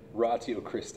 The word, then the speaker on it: Ratio Christi: He works with students at Colorado State University and Ratio Christi. Am I saying that right? Yeah, Ratio Christi is how we should pronounce it.